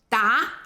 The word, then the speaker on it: 打: 今天分享这个字“打” Today, I'm sharing a character 它是个多音字 that has multiple pronunciations. 第一个音“dá” dá 这个音只有一个用法 This pronunciation has only one usage, 它是个量词 it serves as a measure word, 表示12个 representing a dozen.